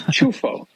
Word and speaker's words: Ciuffo: I think the proper pronunciation they tell me, and I know you have plenty of real Italians listening, is Ciuffo. It's Ciuffo.